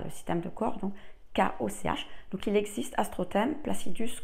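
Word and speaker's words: Koch: k o C H c'est la prononciation allemande si vous la prononcez à la française c'est coche je suppose mais voilà le système de corps donc kooch donc il existe astrotème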